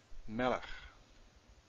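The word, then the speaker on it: מֶלֶךְ: Melech. Melech means king. Stress on the first one, two segols.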